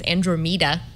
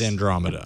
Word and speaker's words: Andromeda: scheduled it's called Andromeda which I was sort of pronouncing as andr MAA yesterday the OS is Andromeda yes the underlying the